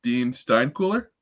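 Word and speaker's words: Dean Steinkuhler: So, I'm going to need help with pronunciation with this last name, but Dean Stein Cooler. Am I saying that right? Yep. You got that one right.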